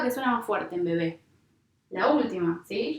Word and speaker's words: bebé: ¿Cuál es la sílaba que suena más fuerte en bebé? La última, ¿sí? Yo digo bebé, no digo bebe, ¿sí?